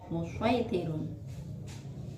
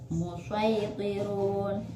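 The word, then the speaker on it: المصيطرون: Pada surat At-Tur, lafal al-musaitirun, musaitirun, yaitu boleh dibaca shod dan boleh dibaca sin. Musaitirun, musaitirun boleh.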